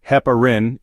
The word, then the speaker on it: heparin: supplements due to the risk of hyperkalemia Hein pronounced Heparin is an anti-coagulant used to prevent blood clots